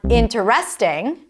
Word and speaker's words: interesting: It's not interesting. It's interesting. The primary stress. If you got it right, well done. If not, practice the correct form with me. Interesting. You can also say interesting or interesting. Both are correct.